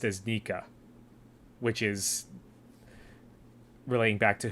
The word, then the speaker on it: Nika: for Luffy's grin, and it's the sound effect pronounced as Nika, which is relating back to Who's Who.